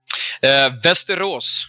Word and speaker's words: Västerås: Västerås. Thank you. Yeah, what he said. It's beautiful. It is beautiful, but I was going to butcher it, so I wanted him to say it. Västerås, something like that.